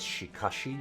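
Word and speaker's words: しかし: is okay good easy you should probably pronounce this as shikashi actually i just always tend to default to saying these like an sh sound rather than an shi sound um but that might sound weird in places so i'm probably in a minority by pronouncing it like that shikashi anyway that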